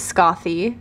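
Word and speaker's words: Skaði: I was in Iceland I actually asked a local how to pronounce her name and they said it was Scotty so that is how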